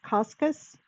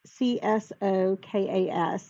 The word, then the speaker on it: Csokas: And then Martin, I think it's pronounced Coscus. It's Csokas.